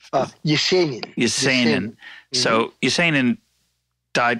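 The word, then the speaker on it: Есенин: Of I would pronounce it Yesenin, but Yesenin.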